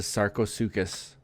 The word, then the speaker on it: Sarcosuchus: The one I want to hatch is the Sarosucus. Sarosucus. The one you know it's spelled saros suchus but it say it's pronounced sarosucus.